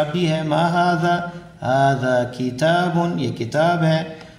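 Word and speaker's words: هذا: یہ ذہن میں رکھیں، ذال کی تلفظ کے لیے زبان دانتوں کے درمیان باہر کو نکلے، ہاذا ہاذا یہ غلط ہے، ہاذا کرسی۔ اہذا بیت کیا یہ گھر ہے؟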